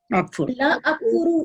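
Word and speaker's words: لا أكفرُ: अकफुर, ला अकफुरु, इसको आपने साइलेंट नहीं करना, ये बहुत इंपॉर्टेंट है, आपने अकफुर नहीं कहना, आपने कहना है ला अकफुरु, ला अकफुरु, ला अकफुर।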